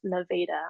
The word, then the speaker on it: Nevada: It is pronounced Nevada.